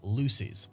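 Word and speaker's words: Loosie's: hotel and Jabari went to a nightclub called Lucy's which is spelled l-o-o-s-i-e apostrophe s and phone records show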